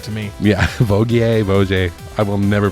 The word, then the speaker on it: Vaugier: Valerie is played by Emmanuelle, I believe it's Vaugier. Cool name. V-A- Either way. Yeah, Vaugier. That seems right to me. Yeah, Vaugier.